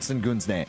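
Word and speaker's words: Şengün: Sengun, a lot of people that are maybe casual basketball fans, unlike me, don't know a ton about Alperu and Sengun's game, right? And is it pronounced Sengun?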